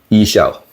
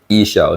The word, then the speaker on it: Ixchel: and I'm pretty confirmed the correct pronunciation of this product is esell all right esell it's like email eShop but esell it's actually a Mayan name um belong to a